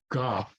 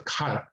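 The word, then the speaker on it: 가: So this is ga. But better in this, better when it's at the beginning of the sentence of the beginning of a word to pronounce it closer to a K. So it's ka, ka, ka, ka. Not too much now, don't aspirate it.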